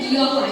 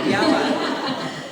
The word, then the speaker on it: Giawa: Ini bacanya Giawa ya. Giawa.